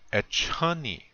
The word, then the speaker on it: echani: The word is echani. We're on the next line. Echani. This means soon. And again, the accent or emphasis is on the second syllable.